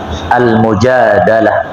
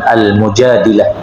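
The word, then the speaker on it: المجادلة: em-plus lalu perhatikan di surat al-mujadalah ya atau sebagian membacanya dengan al-mujadilah ayat tentang ziha Arab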